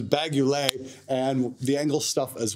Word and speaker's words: Engl: go that's the uh how the hell do we pronounce that again vaguely not not ugly not not balaguer that's a that's a us brand this is bagulay and the angle stuff